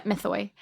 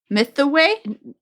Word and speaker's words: Mythoi: They're Mythway. Mythonk. Mythway? What did you say? Yeah, Mythway. Myth the Way? Mythway. MYTHOI.